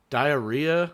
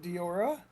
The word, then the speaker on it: DIORA: Um, it how do you pronounce that? Is it diora? Diura. Diarrhea. Uh, uh, we're diarrhea. No, it's not diarrhea. Pronouncing it diora.